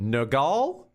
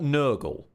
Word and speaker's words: Nergal: Like, we now have the hammer of, and I don't know how to pronounce it, Nergal? Beautiful. It's definitely not Nurgle. We know that much. It's not Nurgle.